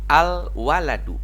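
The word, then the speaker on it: الولد: benar-benar seperti itu ya alwaladul aja dialnya dibaca jelas alwaladul artinya anak kecil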